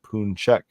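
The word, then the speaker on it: pączek: Singular form of the word is Paczek. That's pronounced Punchek.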